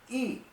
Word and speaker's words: y: And it looks like an English Y, but it's pronounced E.